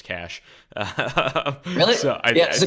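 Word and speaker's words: QASH: I was pronouncing their token Quash until somebody's like, "Yo, that's Cash."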